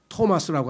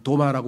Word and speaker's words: 토마스: 그 말고 토마스라고 하는 도마라고 우리는 불러. 왜 도마라 불렀는지 모르겠어요. 발음이 안 좋은데.